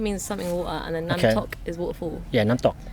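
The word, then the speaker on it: น้ำตก: I think it means something water, and then Namtok is waterfall. Yeah, Namtok. It's like D, kind of like a high pitched D. Namtok. With a K, Namtok. Namtok. You go Namtok.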